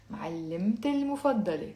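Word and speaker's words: معلمتي المفضلة: So together, all together with the liaison, it's going to be معلمت المفضلة. Let's say it slowly. معلمت المفضلة. Almost like one word in 7 syllables.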